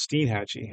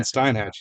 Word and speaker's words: Steinhatchee: remember names and I'm apparently it's Steed Hatchy I've been saying Steinhatchee now like a beer stein oh geez I apologize